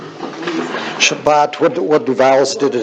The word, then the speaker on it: Shabbat: then the bed okay and then this just this comes together as one syllable so bot Shabbat yep you can see how you have see how you have the two vowels yes that means you're gonna have uh two syllables even though you got three letters so so this is Sha but yeah but can you